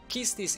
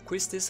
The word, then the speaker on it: Quistis: Then you got Kistis EX, or Quistis, however you want to pronounce it.